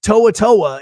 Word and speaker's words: To'oto'o: to saying polynesian names so toatoa is is how you say it and uh and it's